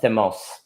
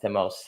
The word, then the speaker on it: thymos: And on the topic of thymos, I'm saying it wrong, thymos, Aspasia got me straight.